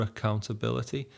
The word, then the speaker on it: accountability: So, clearer accountability. That a becomes a very soft kind of schwa sound. Clearer accountability. Clearer accountability. There's a lot of syllables in accountability. Accountability. Stress in there.